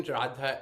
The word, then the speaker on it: Radha: the second line Radha so this R uh both in Radha and Ramana they're not quite rolled but it's like you're almost about to roll your R Radha Radha Rana and